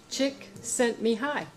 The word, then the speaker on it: Csikszentmihalyi: pronounce it bless you Csikszentmihalyi he says it in the books he says just think chick sent me hi chick said to me hi okay oh okay yes